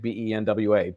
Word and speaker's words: Benoit: Benoit, the second part of the name. First of all, it is pronounced like Benwa. Benoit.